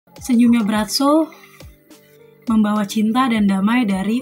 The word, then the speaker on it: Braco: Ya memang guys, tulisannya Bratso tapi kita tetap bacanya Bratso.